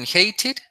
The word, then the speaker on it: hated: ¿Por qué cuando termina una palabra con la D, como que se pronuncia como una ch, ch? Por ejemplo, en hated, ¿eso? Sí, o sea, por las que terminan en D, porque como lo escucho, como que terminan en T, Sí, exacto, Almendra.